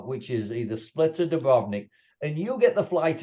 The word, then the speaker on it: Dubrovnik: Yeah, Dubrovnik.